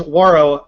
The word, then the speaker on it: Wawrow: And yes, it is Wawrow, rhymes with sorrow, which is what John told me right before it went on.